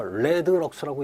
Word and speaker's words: rlx: 이거 레드럭스라고 읽습니다.